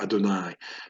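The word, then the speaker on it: אֲדֹנָי: vayomer it's a vayoma Adonai stresses in the last syllable here Adonai this course is the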